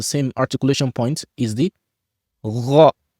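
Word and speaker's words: غ: comes from the same articulation point is the gha, like ghayri, ghayri, not gayri, gha, right? When you see the letter ghain, gha, gha, gha, gha, gha. You see, this is how it's pronounced, not ga, gha, gha, gha.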